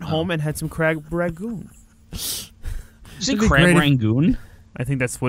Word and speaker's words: rangoon: I went home and had some crab rangoon. Is it crab rangoon? I think that's... Is that what the box says? Wait, you made boxed crab rangoon? Yeah. Ew. I'm poor. What'd you call it, Eric? Rangoon.